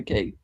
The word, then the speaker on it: McCaig: Ian McCaig? Is that how you say it? Yes, it was Ian McCaig.